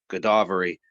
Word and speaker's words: Godavari: and thus he reached the bank of the Godavari. Is that how you pronounce that? Godavari, where he met Srila Ramadana Raya.